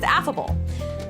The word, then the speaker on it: affable: day today's word is affable affable means Pleasant to talk to approachable notice how AF rhymes with laugh I picture someone at